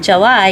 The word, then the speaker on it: Gely: g e l y the reason Carrie likes to pronounce it July is because it's July so you know it